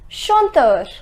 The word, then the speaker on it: chanteur: Chanteur. The pronunciation is chanteur.